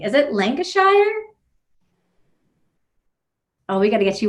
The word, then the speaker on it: Lancashire: see if I pronounce this correctly is it lenka Shire oh we gotta get you unmuted unmute oh okay you're muted right now there we go yeah not bad Lancashire okay Manchester's probably better for most people okay